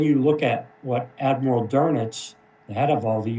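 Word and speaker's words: Dönitz: And here is Admiral Carl Dernets is the way that he pronounced his last name.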